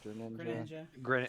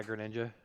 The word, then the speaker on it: Greninja: and uh i can't i always say it wrong like greninja or ninja grenade yeah greninja like those two are my